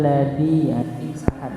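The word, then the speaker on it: الذي: Ara'aital ladzi. Ya, jangan dibacanya huruf dal tapi hurufnya zal.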